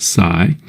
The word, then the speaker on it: psi: energy it's symbolized by this Greek letter Sai PSI pronounced Sai and it's in units